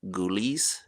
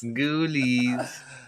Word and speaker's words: Ghoulies: producer, can you find us the photo of the movie Ghoulies and drop that on the screen? How do you spell that? Ghoulies. Ghoulies. Uh G H O U L I E S. Like ghouls.